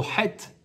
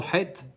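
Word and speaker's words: חטא: het, oui, la faute, il y a un aleph à la fin. Et le aleph, il est muet. Oh, ouais. Un het, ça s'écrit het, tet, aleph. Il se prononce Donc il pas. ne se prononce pas ce aleph, mais il est présent dans le mot het.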